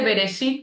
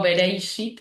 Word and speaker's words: Bereshit: Lo digo, se dice Bereshit, pero no tengo esa pronunciación tan dice que le agrego una i a todo y digo Bereishit en vez de Bereshit.